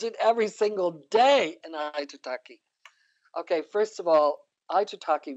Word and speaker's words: Aitutaki: Aitutaki. Aitutaki. Okay, good. Yes, Aitutaki. good. Got it. How do you teach the Baha'i Faith in Aitutaki? I teach it every single day in Aitutaki.